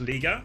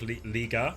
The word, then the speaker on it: Liga: It's pronounced Liga. Oh, is it like Liga?